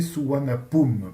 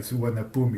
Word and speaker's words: Suvarnabhumi: Donc ils l'ont appelé Suvarnabhumi. Pum, la dernière syllabe du nom de l'aéroport, rappelle la première syllabe du nom du roi.